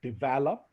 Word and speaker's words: develop: the correct pronunciation is developed there is a stress on the second syllable it's developed now every